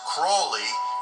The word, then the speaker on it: Crowley: of aleister crowley and his family name may be pronounced crawly but i say crowley as ozzy osbourne did in his song to keep this film